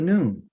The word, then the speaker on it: noon: word Anon the next letter is called the noon you would pronounce this word as a n o o